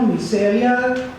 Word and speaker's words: Mircea Eliade: llama de Mircea Eliade, se pronuncia en rumano, Mircea Eliade, Mefistófeles y el andrógino.